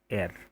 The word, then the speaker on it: heir: अब ये जो वर्ड है HEIR, ठीक है, इसका जो प्रोनाउंसिएशन होता है वो क्या होता है, ऐसे होता है, एयर।